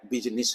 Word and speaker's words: business: और वैसे एक्चुअल में अब कहें तो एक्चुअल प्रोनाउंसिएशन की क्या है, बिजनेस है, बिजनेस।